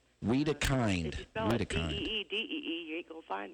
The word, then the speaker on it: Wedekind: the wrong name and it's just d d weed Kind De you ain't GNA find me I am